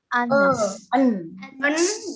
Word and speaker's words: honest: Okay, so the H here is silent, tidak terbaca. Jadi bacanya honest.